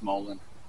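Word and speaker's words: mullein: I found some Mullen I thought I said it's spelled emollient but I I say Mullen or emollient but it's Mullen um so this tree is in my front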